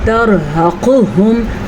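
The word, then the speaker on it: ترهقهم: ترحقہم ہا کے تلفظ کا دھیان رکھنا ہے. عموماً لوگ ہا پڑھ لیتے ہیں تو یہ غلط ہے. ہا قاف کو پر پڑھنا ہے.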